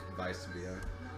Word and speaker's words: Weissbier: Weissbier. It's nice to know that you know that W's are pronounced like V's.